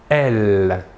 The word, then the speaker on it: elles: prononcent pas et le pronom personnel sujets féminins de la troisième personne du pluriel est elle même chose que pour le masculin l'aes finale ne se prononcent pas voilà pour les pronoms